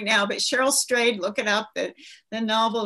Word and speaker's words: Strayed: Is that how you pronounce her name? Do you know? Yes, it's Strayed.